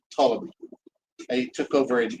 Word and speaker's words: Ptolemy: So the king of the south was General Ptolemy. Starts with a P, but the P is silent. Ptolemy.